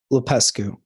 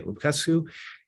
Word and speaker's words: Lupescu: And Serge, how do we say your last name right? I want to say it right. Lupescu. Lupescu. Okay, Lupescu. He is the former owner